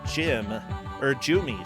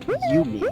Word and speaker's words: Jumi: It looks like Jumi, sorry. Jumi at the bottom right. Getting So a solid he would like beginning it start. to be pronounced Yumi. Oh, Yumi. That's right. It's definitely Yumi.